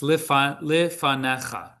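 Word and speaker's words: לפניך: The yud is silent. It's lifanecha. The yud, it doesn't.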